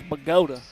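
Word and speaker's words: Bogata: metropolis of pagoda or if if you pronounce it phonetically bogota right but here in east texas it's pagoda uh but he's gonna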